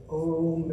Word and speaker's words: Ogham: I was going to go around saying Ogham all of my life. I think, yeah. Yeah, and I like to think of Om.